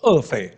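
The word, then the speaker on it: 俄斐: 那烏法呢，這個發音呢，就是俄斐啊。烏法呢個嘅發音呢，就係俄斐。這個聖經有時候把它叫烏法，有時候叫俄斐啊。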